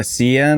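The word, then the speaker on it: Sián: this one called a cn i think it's pronounced s-i-a-n and yeah it's literally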